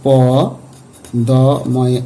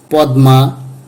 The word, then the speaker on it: পদ্মা: প দ ময়ে আকার গ এ ট ফলা দীর্ঘই মধ্যন স ম ভন্ত স ম বয় রসয় দন্ত স ম অন্তস্ত ইত্যাদি এখানে আমরা অনেকেই পদ্মা গ্রীষ্ম ভস্ম বিষ্ময় এভাবে উচ্চারণ করে থাকি।